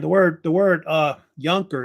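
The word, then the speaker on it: Junker: those days and the word the word uh younker it's pronounced why it means in German young Lord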